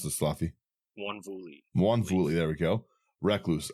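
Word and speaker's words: Mwonvuli: How do you pronounce this, Slothy? Wanvuli, there we go.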